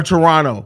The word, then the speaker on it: Toronto: his ass back to Toronto man or Toronto I'm sorry the Canadians always correct me especially you're not supposed apparently you're not supposed to pronounce the second T but send his ass